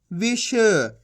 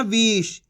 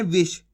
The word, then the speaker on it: विष: मिलके बन जाएगा विष इसी तरीके से पढ़ना है आपको विष खीच के नहीं पढ़ना विष अगर खीच के पढ़ोगे विष तो बड़ी ई की मात्रा का उच्चारण हो जाएगा तो अपन कैसे पढ़ेंगे विश सिंपल है अब चलिए